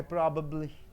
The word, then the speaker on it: probably: probably what even be probably it is an adverb it is an adverb probably three sound three syllables are there you have to assess the first syllable probably probably likely to